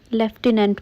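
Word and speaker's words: lieutenant: आप लेफ्टिनेंट बोलते हो लेकिन पता है इसमें तो एफ है ही नहीं। इसकी स्पेलिंग है लटिनेंट।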